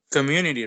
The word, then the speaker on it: community: your turn um it's community right exactly yes um it has four syllables and it is in the second in mu community excellent i completely agree